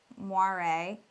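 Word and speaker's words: moiré: It's called moire, I believe that's how it's pronounced, and basically creates an optical illusion of banding in some clothing that has really small repetitive patterns.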